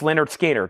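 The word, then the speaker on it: Lynyrd Skynyrd: of high quality records analog Productions 45 RPM pronounced Leonard skard 64.99 and then opth ghost revies ghost revies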